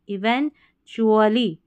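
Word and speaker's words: eventually: Even, इसको even नहीं पढ़ना, इवन, इवेंचुअली, TUALLY को चुअली पढ़ेंगे, इवेंचुअली अंततः, आखिरकार।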